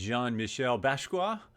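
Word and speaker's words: Jean-Michel Basquiat: collections which is really amazing next one is Jean Michelle basa and I did look that up that is pronounced pretty accurately uh this one's really crazy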